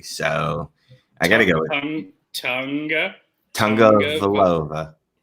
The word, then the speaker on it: Tagovailoa: I gotta go with Tagovailoa. Tagovailoa.